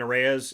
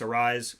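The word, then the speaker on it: Arraez: we might get somewhere I've been saying areas it's Luis Arise My apologies to Luis on that yeah I I said it wrong for years too and you know that I guess they finally said arise yeah and yet being Hispanic when you see a-r-r-a-e-z oreas is what it seems to be and and I've I've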